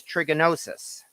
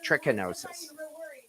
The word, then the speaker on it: trichinosis: pork of course is trigonosis and i know i pronounced that wrong trichinosis yeah that yeah that's